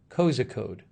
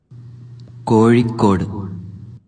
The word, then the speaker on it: Kozhikode: How do you pronounce this? It is Kozhikode. Kozhikode.